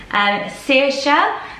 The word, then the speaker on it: Saoirse: Saoirse, so pronounced as you see it on screen.